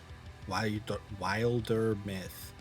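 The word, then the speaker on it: Wildermyth: We are playing Wilder Myth. Wilder Myth. That is how you say that.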